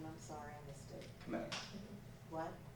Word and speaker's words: Kmetz: Kmetz. What? Kmetz. How do I spell that?